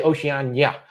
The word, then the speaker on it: Oceania: I always say Oceania. The I is silent, just Oceania.